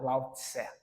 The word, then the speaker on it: Lao Tzu: talvez essa seja até mais popular, escrito por Lao Tzu, ou o nome mais popular, Lao Tse.